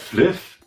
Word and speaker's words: Flyff: Da spricht man doch nicht Flive aus, du Vollidiot. Das heißt Fliff. Fly for fun.